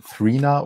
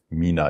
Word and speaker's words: Mina: gedacht habt übrigens ne viele Leute denken das heißt thina oder wird thina ausgesprochen weil das Packaging mäßig wo ist denn die Box hier ist das Logo und wenn das so geschrieben ist denken dann die Leute weil D eine dre davor ist wird es thina ausgesprochen oder so es heißt aber Mina hier seht ihr das